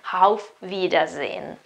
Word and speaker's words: auf Wiedersehen: ce ne andiamo il nostro a offrirà zen auf wiedersehen auf wiedersehen occhio perché si dice tanto ma si pronuncia sempre molto male house a rivedersi vide